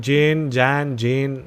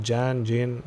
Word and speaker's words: Jan: Then Jane, how do you pronounce it? Jane, not sure how it is. Jan, sorry, not Jane. Jane is Jane. Jan is Jan.